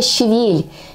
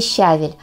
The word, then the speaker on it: щавель: известное растение друзья - это ще Вель именно так правильно произносить это название ще Вель а не щавель конечно же швельм Варим